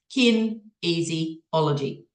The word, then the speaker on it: Kinesiology: and I saw this thing on Google called Kinesiology and I couldn't really even pronounce it but it's kin easyology now when I discovered that I rang and